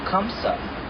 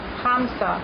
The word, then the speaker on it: hamsa: The hand that's pointed down that you see on walls, that silver or gold, is called the kamsa. Hamsa.